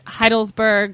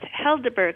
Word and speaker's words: Helderberg: So Laura and her husband, you guys are hop farmers at Heidelberg Hop Farm in upstate New York. It's actually pronounced Helderberg Hop Farm, but yes. Helderberg.